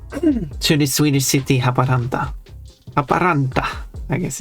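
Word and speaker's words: Haaparanta: Well, in Finnish is Haparanta or something. Haparante. I don't know. I don't know how they say it locally. I would say Haparanda.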